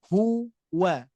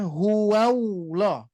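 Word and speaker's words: هُوَ: wa hu wa ya hati-hati nih di sini Bapak Ibu sekalian Saya akan cantumkan kesalahan umum yang sering terjadi adalah menambah wau sukun di sini hati-hati ya menambah wau sukun di sini ini tidak boleh ya ini tidak boleh bapak ibu sekalian karena menambah huruf ya apalagi menambah huruf ya hati-hati Nah jangan sampai kita membacanya huah huah meskipun dari lisan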